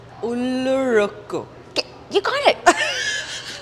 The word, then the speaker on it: Ullozhukku: Ullozhukku. Ullozhukku. So the thing goes up. Ullozhukku. Ullozhukku. Now you can just replace the R with R. Ullozhukku.